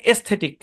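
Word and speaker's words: aesthetic: আরো কিছু শব্দে এ সাইলেন্ট থাকে, যেন এস্থেটিক, আইল, এই শব্দগুলোতে এ সাইলেন্ট, মনে রাখবেন।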